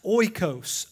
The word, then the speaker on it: oikos: The Greek word that's used in this text for the word house is a word, I believe it's pronounced oikos, O-I-K-O-S.